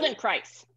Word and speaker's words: Feldenkrais: Feldenkrais. So, right, yeah, spells rhymes with rice, Feldenkrais.